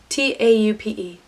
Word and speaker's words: taupe: to say this color taupe it's how you pronounce it tau PE taupe I draw a line